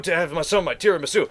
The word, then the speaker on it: tiramisu: That'd be like serving teramis at an old noodle shop. Tiramisu. Tiramisu? Tiramisu. It's not a Japanese dish, so it'd be pronounced tiramisu.